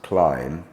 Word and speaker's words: climb: that we gave was climb but there are a number um bomb cone lamb num thumb all end in the letter B not sounded in a mid uh